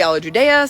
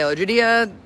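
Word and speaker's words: alla giudia: trophy a la Judea now some say all of Judea some say hello Judea the right pronunciation is probably all of Judea but we get corrected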